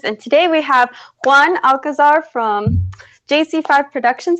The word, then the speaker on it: Alcazar: today we have one alcazar from jc5 productions I hope I said your last name right by the way yeah that's the right way to say it and he has been